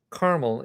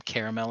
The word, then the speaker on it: Carmel: The anguish with that was more with the pronunciation because I had an ex that was from Carmel, Indiana, and would get very mad if you'd said that. He was from Caramel, Indiana.